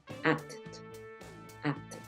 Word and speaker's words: acted: que pasó aquí Entonces como la última letra es una t vas a pronunciar esa Ed muy parecida acted acted listo Entonces en este